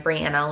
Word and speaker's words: Brianna: Like, people always mispronounce my name and say Brianna, even though I know like some people with the same spelling as me, that's how they say their name, but I say mine Brianna, like rhymes with banana.